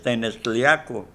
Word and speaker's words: Tenextliaco: Y su pronunciación original es Tenextliaco, cuando menos así lo